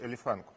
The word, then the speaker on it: Элефанк: Просто я смотрю, что вот последние посты, они все посвящены Элефанку. То есть я правильно ударение? Да, Элефанк, верно, да, есть такая группа.